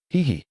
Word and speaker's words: Hei: Hei, pronounced the same as he.